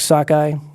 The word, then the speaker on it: Sakai: My name is Sakai, pronounced like the salmon Sakai.